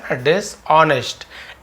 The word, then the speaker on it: dishonest: डिस ऑनेस्ट friend डिस डिस ऑनेस्ट एच यहां पर silent है साइलेंट लेटर जिसे कहते हैं यानी कि लिखते तो हैं लेकिन इसे पढ़ते नहीं है डिस ऑनेस्ट यानी